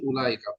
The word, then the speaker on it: أولئك: আর জালিকা তিলকার জমা হচ্ছে উলাইকা। উলাইকার মধ্যে ওয়া এর উপর কিচ্ছু হবে না, মানে এরকম লিখতেন, আমি যেভাবে লিখতেছি উলা, ওয়াটা সাইলেন্ট করবো, জজমও হবে না, কিচ্ছু হবে না, সাইলেন্ট।